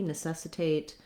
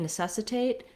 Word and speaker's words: necessitate: so necessity necessitate um watch out when you're saying necessitate that you don't stress that a you don't want necessitate but necessitate so we do have the clear vowel but it's still a short unstressed syllable that's one of the